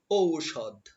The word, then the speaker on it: ঔষধ: ঔষধ ঔষধ আমরা কিন্তু ঔষধ বলি কিন্তু না এটা হবে ঔষধ ঔষধ ঔষধ একটু ধাক্কা দিতে হবে এর পরবর্তী শব্দ রয়েছে